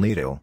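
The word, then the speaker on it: Lidl: of the kaufland and lido rhymes with needle discount supermarkets schwartz inherited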